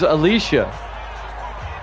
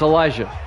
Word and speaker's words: Elijah: You thought it was Alicia, which is spelled the same way. But it's Elijah.